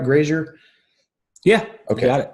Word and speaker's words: Grazier: Grazier?